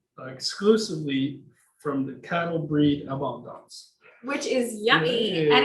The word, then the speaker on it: Abondance: Abondance. How do you say it? So this cheese is called Abondance.